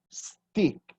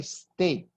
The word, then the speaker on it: steak: steak steak with steep I've heard Brazilian say stick stick is pedesta pow you don't eat that that's not edible what you eat is a steak so hamburger steak it's